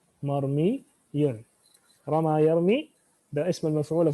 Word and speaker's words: مرمي: رمى يرمي مفعول is on the wazn of مرموي. But that is not how things happen. Rather, this wow is also converted into a ya, just to help us يعني pronounce it. So we'll say مرمي.